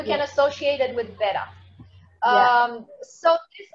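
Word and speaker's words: ß: So this letter looks like beta, but it's pronounced S. It's actually pronounced S.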